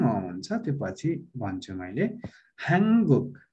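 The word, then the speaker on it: 한국: हाङगुक। अब हानगुक भन्ने होइन है, हानगुक भनेर भनिदैन है कोरियालाई। अब लेख्दाखेरि यसरी हान नफाच्छिम गराएर गुक लेखिन्छ, तर तपाईहरुले सही उच्चारण गर्नुपर्छ हाङगुक।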